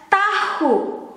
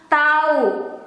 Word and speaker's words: tahu: to say no no but we don't pronounce it as tahu we write it as tahu but in daily conversation it becomes tau we don't pronounce the h or the h is a silent letter tau tau for tahu but the way we write